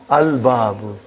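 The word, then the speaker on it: الباب: Is it moon letter or sun letter? Moon letter. You did pronounce lam. Al-babu.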